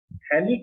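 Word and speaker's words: phthalic: थैलिक acid. TH silent होता है बेटा, यहाँ पर सही बोला आपने, TH साइलेंट होता है।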